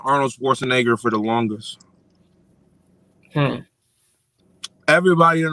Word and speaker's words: Schwarzenegger: arnold schwarzenegger arnold schwarzenegger arnold schwarzenegger that's how you pronounce it yeah arnold schwarzenegger i never knew